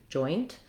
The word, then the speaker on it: joint: So my tongue starts in the position for the D, but then it drops down and the air can push out. J. If I didn't have my voice on, it would sound like ch. So if you can say a word like cheese or choice, you can turn your voice on and say the J sound, joy, joice, joint.